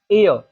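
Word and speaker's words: heir: एयर तो एयर में एच है तो यहां पर इसकी साउंड क्या है? एयर यह भी ए साउंड आ रही है।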